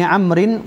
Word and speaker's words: Amr: Sebab waw itu, waw yang kat hujung Amru itu menentukan, atau salah satu kaedah orang Arab pada zaman dahulu, mereka meletakkan waw di hujung kalimah ain mim ra untuk menerangkan tentang cara baca terhadap kalimah ain.